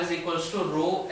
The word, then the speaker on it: rho: As the temperature changes, R changes and hence the rho changes. And this symbol denotes resistivity and it is pronounced as RHO, not rho।